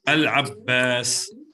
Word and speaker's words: العباس: Al-Abbas. Okay. Al-Abbas. Ida. Al-Abbas. Al-Abbas. Is it Qamari or Shamsi? Al-Abbas. Qamari. It's Qamari, correct. It's Qamari because we pronounce the lam.